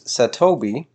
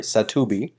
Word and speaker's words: SATOBI: now if we use satobi sorry satubi which is apparently the correct pronunciation now if we use